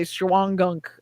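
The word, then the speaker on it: Shawangunk: the time there's the you're not going to pronounce this right scholangum so we would just say shuangunk uh mountains which is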